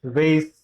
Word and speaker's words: vase: The correct pronunciation of this is vase, vase, vase, vase. The correct pronunciation is vase.